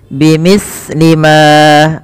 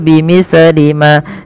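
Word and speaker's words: بمثل: Bimithli ma, hati-hati di dalam melafalkan huruf sa, jangan sampai sa ini memantul ya teman-teman, atau dia membacanya dengan huruf sin. Contoh memantul bimithli ma, bimithli ma itu memantul, atau dia membaca dengan sin bimithli ma. Ini juga kesalahan di dalam membaca huruf sa yang kecil.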